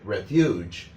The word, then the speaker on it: refuge: A lot of times when students see refuge, they often say refugee. Actually, refuge, the E is hardly pronounced at all.